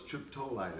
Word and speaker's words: triptolide: So it's triptolide. Is that the correct pronunciation?